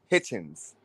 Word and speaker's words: Hitchens: I've seen it Hitchinson. pronounced. It's I've called. seen it. His name is Richardson Hitchens.